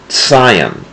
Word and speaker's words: Zion: have you noticed that i am pronouncing this not with a z the way it's spelled in english but it is pronounced with a ts scion the reason is is